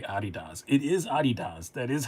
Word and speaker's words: Adidas: It is Adidas.